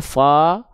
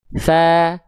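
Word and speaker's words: ث: Bukan hanya sekedar dibaca thso, fsa, tapi tsa, tsa, tsa.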